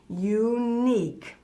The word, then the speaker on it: unique: spelling spelled word yeah but it's a long u unique yep that's what it